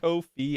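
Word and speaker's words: Ko-fi: Except they say it's pronounced Kofi.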